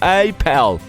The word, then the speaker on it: Apple: uma loja da Apple Só que os franceses a pronunciam como Appel existe a opção de